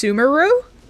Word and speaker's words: Sumeru: than sumeru's frigid snake wine sumeros is not pronounced sumeru god everything's so confusing hearing it again that's